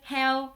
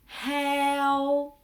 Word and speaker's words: heo: vocabulaire du sud, c'est heo, heo. Donc, dans la prononciation, l'accent ici, c'est un accent neutre. Heo. Le H se prononce h, h. Vous sentez, il y a de l'air qui sort.